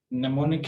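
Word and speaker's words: mnemonic: इसी तरह से लिसन है और ये नेमोनिक है, यानी इसमें एम जो है वो साकिन रहेगी।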